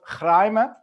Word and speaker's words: Chraime: It's called Chraime. This is how we pronounce it, or how they pronounce it in the Middle East.